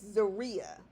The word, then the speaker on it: Zaria: So apparently I think that's the way it's pronounced. And I don't want to mess it up, but I would imagine somebody who's been on the phone with her for years would know how to pronounce her name. So it's Zaria.